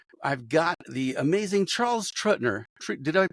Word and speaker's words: Truettner: I've got the amazing Charles Truettner. Did I pronounce that correctly? Truettner.